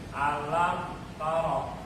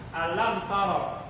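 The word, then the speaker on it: ألم تر: Alam tara. Alam tara, mim ketemu ta. Ini bacanya jelas. Alam tara, nggak boleh alam tara. Itu salah. Ingat tuh.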